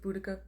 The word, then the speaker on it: Boudica: First thing to note about Boudica is that both main biographies that we have